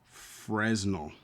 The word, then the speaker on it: Fresnel: Fresnel. But it's pronounced Fresnel, or at least that's how I've pronounced it over the years.